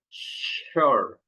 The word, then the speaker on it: sure: But here we don't have sh. But this s is pronounced like sh.